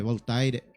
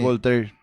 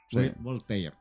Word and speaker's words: Voltaire: del y talla de voltaire no se pronuncia voltair voltaire voltaire nuestro lema de luto